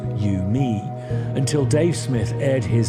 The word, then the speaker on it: UMI: The agreed protocol was dubbed universal musical interface, UMI, pronounced U, me, until Dave Smith aired his displeasure with a